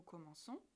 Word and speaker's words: commençons: Attention, C et O se prononcent co. Mais le verbe commencer ne peut pas changer de prononciation en fonction de la terminaison. Alors on ajoute une cédille. Nous commençons, la prononciation est respectée.